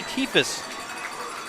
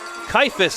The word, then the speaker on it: Keifus: That's A.J. Keefus. Keifus, actually, on the pronunciation.